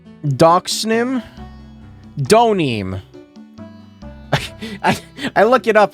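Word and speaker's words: Deauxnim: Donim. I I look it up, and it's the first thing is an Ace Attorney subreddit thing. How the fuck do you pronounce Laurice Donim's name? It's Donim. Okay.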